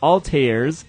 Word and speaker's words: Altair: mages, cyber commandos, and a crap load of Altairs and Ezio's. Altair, that's how you pronounce it.